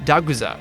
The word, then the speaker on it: Dagda: The closest name that sounds like it is Dagda, but in Japanese, it's pronounced Daguza.